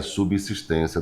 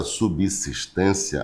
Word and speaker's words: subsistência: Só observando que a palavra subsistência, a pronúncia é essa, tá? Subsistência. Observa que o s ele não está entre duas vogais. Ele está entre a consoante B e a vogal I. O Só pode ter som de Z na